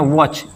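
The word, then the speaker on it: watch: इसको पढ़ते हैं वॉच। यहां टी साइलेंट है।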